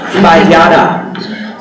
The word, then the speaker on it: Bayada: Bayada? Bayada. I had my syllable wrong. Bayada.